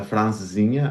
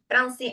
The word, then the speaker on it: Francesinha: It's the francesinha.